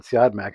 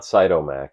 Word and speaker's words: Siodmak: Is it Siodmak? I've always said Siodmak. I don't know. If I'm wrong, please tell me. Yeah, it's not Cytomac. No.